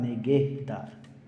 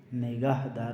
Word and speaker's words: نگہدار: ممنون، خدا نگہدار. ممنون یعنی شکریہ، تھینک یو. خدا نگہدار، نگاہ دار نہیں. ٹھیک ہے، خدا ہے، نگہ جو ہے محافظ کو کہتے ہیں.